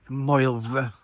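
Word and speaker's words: Moelfre: Moylvre. It's spelled more like mole-free, which everyone hopes their skin is, I guess.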